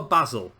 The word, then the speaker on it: Basel: It always used to be Bâle. I remember the first time I ever saw them in the Champions League, it was Bâle they were pronounced as, but as time went on, they then started to be called Basel. I don't know.